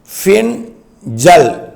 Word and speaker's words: Fengal: தாழ்மண்டலமாகி 26 ஆம் தேதி பின்சல் புயல் அது வந்து fe ஐ என் ஜே ஏ எல் இப்படித்தான் உச்சரிக்கணும் பின் ஜல் பின்சல் புயலாக உருவெடுத்து அது